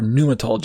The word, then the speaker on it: pneumatology: matters of ontology and the pneumatology or pneumatology if you want to pronounce the p i don't usually pronounce